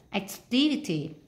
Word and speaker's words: activity: Ví dụ, activity. Activity, chúng ta nhấn vào âm 2 này.